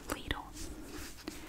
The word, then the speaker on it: Lidl: peek starting tomorrow and then finally we have lidl and so many people tried to correct my pronunciation of the name of the store that